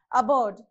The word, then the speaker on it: aboard: Okay, so first one is aboard. So aboard, A is a weak prefix, so we have to place a stress mark on the second syllable.